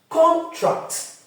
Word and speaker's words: contract: is a verb but when it is a noun more often than not it will always lie on the first syllable as a now so